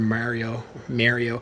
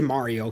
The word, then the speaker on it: Mario: I say Mario because it's Mario, not Mario. Rich Review Tech USA, you gotta fix your pronunciation, dude. It's Mario, not Mario. I have no idea why he says Mario, but it's Mario. It's Mario, guys. Mario Odyssey.